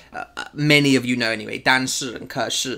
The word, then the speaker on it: 但是: 但是 and 可是对 Now, I was taught to say 但是 and 可是 That's the correct way to say it. 是 S-H-I 对但是 But...in Taiwan, the accent that a lot of